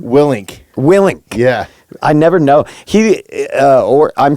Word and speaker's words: Willink: Willink.